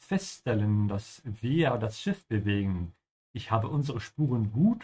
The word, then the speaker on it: bewegen: Dass wir das Schiff bewegen. That we are moving, bewegen. They are ship. Make sure you pronounce the W like a V, yeah? Bewegen and stretch the E a little bit.